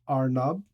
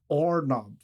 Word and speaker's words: Arnab: Anyway, getting back to it, most people in India, my name is pronounced as Arnab, R, right? Whereas where I come from in Assam, it's pronounced more like Ornab.